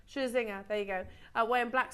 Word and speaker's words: Scherzinger: Scherzinger, there you go.